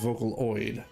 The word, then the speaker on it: Vocaloid: So it is pronounced Vocaloid.